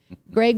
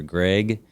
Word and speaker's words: Gregg: Gregg with 2 G's sounds like an A. Yes, that's right. And Gregg with 1 G sounds how? With an E sound.